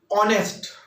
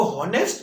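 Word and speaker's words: honest: ऑनेस्ट, हम इसको हॉनेस्ट नहीं पढ़ेंगे, यदि हम इसको हॉनेस्ट पढ़ेंगे तो ये सही नहीं रहेगा।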